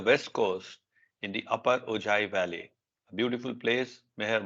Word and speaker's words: Ojai: And by the way, this is pronounced Ojai. It's this Spanish thing. Okay. J becomes Okay. ha. Yeah, ha sound. Yeah. Oh, hi. But it's that Okay. that whole town, Ojai, is full of spiritual masters and their retreats.